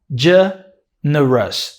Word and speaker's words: generous: Generous. Generous. Generous. So, a generous person. Generous. Every time you see a word that ends in o us in English, the pronunciation is us.